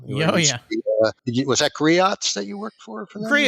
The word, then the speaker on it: Griot's: Was that Griots that you worked for them? You said?